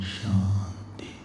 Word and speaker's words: शांति: ऐसा नहीं है, श में नीचे जाएगा। सुनिएगा, ओम शांति शांति शांति।